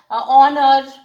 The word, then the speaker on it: honor: Sometimes your teacher must have also said that learn these things, that for example, honor. So here also H is silent.